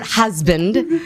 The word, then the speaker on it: husband: And the word husband, it's spelled with an S, but it's pronounced as a Z sound, okay?